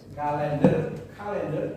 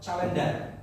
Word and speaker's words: calendar: Bacanya kalender atau calendar. Calendar. Okay, repeat after me, calendar. R-nya seperti just like people, pelo man, orang yang pelo. R. Oh ya. Calendar. R-nya seperti orang pelo.